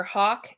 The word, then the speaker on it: Hach: No, so the Hawk invoice that you see on the AP, just because Oh, it's the Hawk you invoice. typically see HACH is how it's spelled.